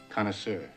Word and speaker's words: connoisseur: Connoisseur.